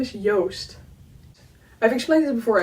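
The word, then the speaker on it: Joost: with a J but it's also not an English J it's a Dutch J which is like softer it's like not like joke the English word but like egg yolk yolk Yost yolk roast ghost that's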